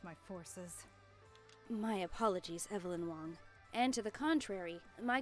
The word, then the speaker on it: Wang: be lost negative Evelyn Wang my navigation systems are operating as intended it's pronounced Wong and your systems are